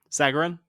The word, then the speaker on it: Sagarin: golf week uh sagran how do you pronounce that Sagarin sagin yep ranking is also no